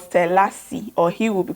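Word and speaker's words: Selase: My name is Selassie, and I spell my name S-E-L-A-S-E.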